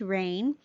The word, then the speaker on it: reign: just learned something now the r e i g n with that silent g it says rain chaos reigned in the